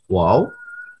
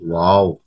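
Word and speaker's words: واو: ওয়াও হরফের উচ্চারণটা, উচ্চারণের স্থান হচ্ছে দুই ঠোঁট উচ্চারণের সময় গোল হয়ে যাবে, অর্থাৎ তোমরা নিচে যেহবা দুই ঠোঁটের চিত্র দেখতে পাচ্ছো কিরকম গোলাকৃতি হয়ে গেছে, তাই না?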